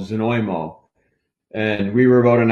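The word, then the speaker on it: Znojmo: Yeah, it looks like it's Zanjimo, but yeah, you pronounce it Zanoymo.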